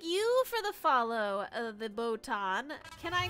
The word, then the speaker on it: Botan: Is it baton or botan? I'm so sorry. I just want to make sure I say it right. You have to dip because it is late? Aw. It should be botan.